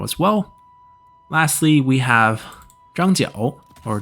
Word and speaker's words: Zhang Jiao: Lastly, we have Zhang Jiao, or Zhang Jue, as they have it pronounced here. It's the same character with two different pronunciations.